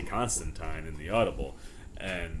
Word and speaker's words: Constantine: And I'm sure some of you are going, Corey, why do you keep saying John Constantine?